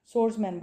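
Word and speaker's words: swordsman: शमशीरजन ठीक है सोर्समैन सोर्समैन में डब्ल्यू साइलेंट है सोर्समैन बोलेंगे ठीक है सोर्समैन तलवारबाब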